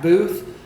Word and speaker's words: Boothe: So Zach Booth. Spell it.